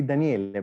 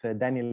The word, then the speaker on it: Daniele: In Italian we say Daniele, but it's Daniele is fine. I mean, it's the same.